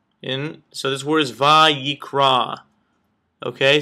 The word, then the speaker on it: Vayikra: so the first letter in so this words VRA okay say it with me VRA and phonetically it is VA a y a k